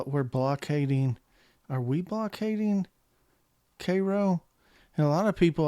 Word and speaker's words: Cairo: think in this case it is not pronounced like the egyptian city it is actually pronounced like the syrup karo syrup uh for whatever reason